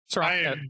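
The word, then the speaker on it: Srok: How do you pronounce it? Srock.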